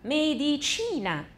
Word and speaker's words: medicina: 重音在前面，可是医学重音是在倒数第二个。Medicina.